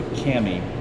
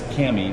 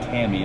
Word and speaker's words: Cami: So we got that done, but going to America's Mailbox, and kudos to Cami, it's Cami, not Tammy, as I mispronounced it, C-A-M-I.